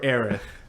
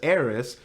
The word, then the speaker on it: Aerith: quick mentioning her uh Eris or aerith I say aerith I say aerith too like I did say Eris because like when a planning as a kid it says heiress for North America so I was just